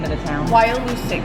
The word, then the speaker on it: Wyalusing: Wyalusing. Wyalusing.